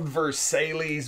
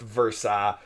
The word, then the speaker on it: Versailles: It's spelled Versailles, but it's pronounced Versailles.